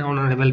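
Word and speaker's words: honourable: টেন্সে হি ওয়াজ হচ্ছে না হি ইজ অ্যান অনারেবল ম্যান ঠিক ধরলাম হি ইজ এ হবে না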